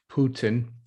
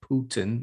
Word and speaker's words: Putin: the economic advisers to putin someone said i should pronounce it putin not putin is that back in